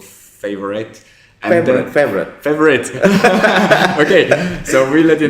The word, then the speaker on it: FAVORIOT: Don't pronounce with the spelling. The spelling. Forget about the spelling. Just pronounce it. But the spelling is quite cool because it ends with the IoT. So that's why it's called favorite.